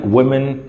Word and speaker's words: women: And more than 1 lakh हो गया ना, more than 1 lakh south African man, वुमेन. अच्छा, इसकी प्रोनाउंसिएशन वुमेन में गलत बोल गया. WOMAN होता है वुमन.